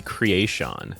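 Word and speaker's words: Kreayshawn: gucci by craishan so i'm not entirely sure how it's pronounced but it might be creation oh it's crazy is this crazy it's crazy crayshawn okay i stabbed him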